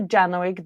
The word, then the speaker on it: Janowczyk: Janoig, did I pronounce your last name well?